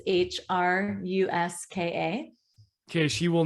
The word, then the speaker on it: Hruska: It's pronounced Hruska, is that correct? Yes, and the last name is Hruska.